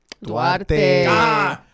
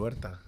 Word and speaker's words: Duarte: Duarte.